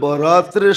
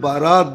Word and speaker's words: বরাত: উর্দুতে আরবিতে একরকমই লেখে কিন্তু উচ্চারণে ডিফারেন্স একটা হলো বরাত আরেকটা হল বারাত একটা হলো মুক্তি একটা হলো চলন মানে আকারের পার্থক্য আর কি